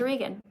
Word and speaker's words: Regan: Somebody else says their name is Regan. All right, be vegan. Regan rhymes with vegan.